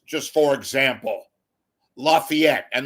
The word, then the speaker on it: Lafayette: where they're covering, what they're covering, how to pronounce, just for example, Lafayette and not refer to it as Lafayette for God's sakes.